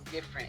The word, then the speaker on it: Difernt: So I say different. When you say my name different, it's not a vanity.